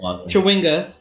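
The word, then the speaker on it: Chwinga: Chewinga.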